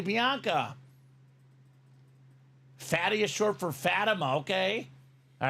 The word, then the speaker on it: Fatima: Fatima. There you go. Fatima, just like the high school. Fatima High School.